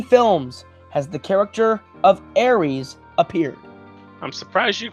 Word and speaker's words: Ares: And your question is thus: in how many films has the character of Ares appeared? I'm surprised you pronounced it correctly.